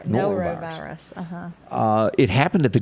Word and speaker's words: norovirus: How do you pronounce this word right here? Norovirus? Norovirus.